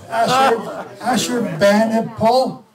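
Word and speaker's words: Ashurbanipal: you say that I sure help me out Asher band and Paul yes in ancient enema some of the tablets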